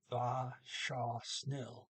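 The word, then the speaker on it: vær så snill: The var ends with an R, saw, starts with an S. You got to put them together and say va, shaw, snill.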